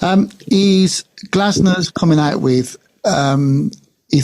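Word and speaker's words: Glasner: I'll tell you what in last night's game with with Arsenal and Crystal Palace is it's Glasnner, isn't it? Their manager. Have I pronounced that correctly? Glazner.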